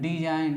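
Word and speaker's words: design: अब देखिए क्या है डी ई एस आई जी एन यानी एन के पहले क्या है जी तो जी मेरा क्या हो जाएगा साइलेंट वर्ड हो जाएंगे फिर एच साइलेंट में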